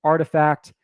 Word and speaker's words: RTFKT: collectible side right rtfkt which is pronounced artifact i i just covered